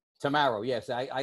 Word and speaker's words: Tammaro: name right it is tomorrow right tomorrow yes i i like to say uh straight as an arrow tomorrow ah okay that's